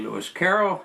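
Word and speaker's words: Lewis Carroll: I in this case I mispronounced the author of Alice in her two books um his name is really Lis Caroll and for some reason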